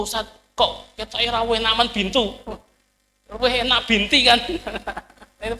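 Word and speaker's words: بنتُ: Misalnya kan Fatimah binti Muhammad. Orang Indonesia kan binti terus kan, aslinya apa? Fatimah bintu Muhammad. Artinya pengucapannya bintu bukan binti.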